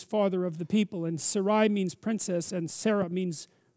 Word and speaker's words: Sarai: by the way or how do you say that i don't know how to say that sarai sarai it's sarai to begin with yes is that right sarai yes okay and then it's sarah and that so abram